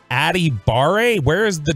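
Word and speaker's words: Adebawore: Vita from uh now the last name is spelled a d e b a w-o-r-e and it's adibare where is the W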